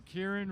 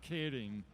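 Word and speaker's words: Keirin: Oh, yes, the Kieran race is actually pronounced Kidding.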